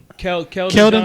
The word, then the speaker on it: Keldon: Cleedon Johnson. That's how you say it. Keldon Johnson.